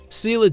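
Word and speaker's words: Ceilidh: Sila dancing pronounced kay because Gaelic spelling follows its own mysterious rules.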